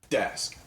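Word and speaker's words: Daask: Dask.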